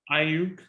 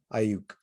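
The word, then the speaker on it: Aiyuk: How do you pronounce Brandon's last name for the 49ers? Ayuk. Ayuk.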